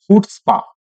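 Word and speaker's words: chutzpah: इसी वर्ड को आप ऐसे भी पढ़ के आते हैं बच्चों, इसको कैसे पढ़ा जाता है मैं आपको बता दूं। इसको बोलते हैं हुट्स, इसको बोलते हैं हुट्सपा।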